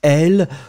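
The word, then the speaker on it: elles: It's L. Remember, this final S is not pronounced at all. So you just need to remember that you will have to put it, but clearly you don't pronounce it.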